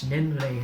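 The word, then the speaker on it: 年齢: And the most egregious example of all of this was this word for age, nenrei. It's a 2-syllable word.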